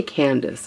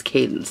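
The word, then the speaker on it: Cadance: Is it Cadence? I believe it's pronounced Cadence. I always want to say Candace. I don't know. It's Cadence. The Mi Amore Cadenza.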